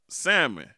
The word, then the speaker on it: salmon: So you decide that you want to order the salmon, but you pronounce the L in salmon.